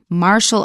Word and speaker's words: martial: Pay attention to the word martial. It's got a T in it, but we pronounce it sh, as in the word motion, martial arts.